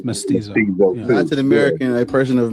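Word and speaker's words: mestizo: Myst pronounced it wrong. Oh, yeah. It's Mysto.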